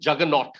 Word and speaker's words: juggernaut: Juggernaut. The way you pronounce this word is called juggernaut. Juggernaut is how you pronounce the word.